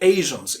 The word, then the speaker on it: Asian: For example, we are all Asians. Even Asian, it is pronounced Z or Sh, not Asian.